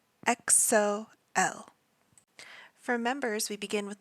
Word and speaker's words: EXO-L: The group is EXO, EXO, and their fandom is called EXO-L, EXO-L.